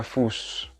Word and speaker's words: Fuß: F-U double S atau scharfes S. Dan itu dibacanya S. Der Fuß.